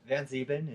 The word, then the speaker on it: VanZeben: Do you say VanZeben? VanZeben is how VanZeben, it's all pronounced.